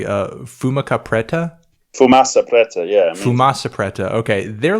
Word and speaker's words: Fumaça Preta: Tell me if I'm pronouncing the name correctly. Fumaça Preta? Fumaça Preta, yeah.